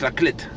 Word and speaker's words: La Clayette: Et on est aussi très proche de la Clette. Excusez-moi pour la dernière fois, la Clayette. Hein. Ça s'écrit la Clayette, mais ça se prononce la Clette.